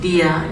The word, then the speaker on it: dear: Dear is pronounced dia in Rhode Island.